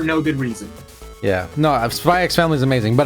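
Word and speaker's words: Spy × Family: No, Spy X Family is amazing, but apparently, you're not supposed to say the X on any of those. The X is not supposed to exist when you say those names.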